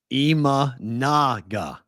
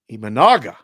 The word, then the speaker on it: Imanaga: two Hoskins had his way and there's your pronunciation sh imanaga imanaga sh okay I that's how I said I